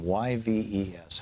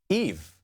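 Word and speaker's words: Yves: to pronounce this name y Vees how do you say that name Eve yeah okay Eve Smith and uh thank you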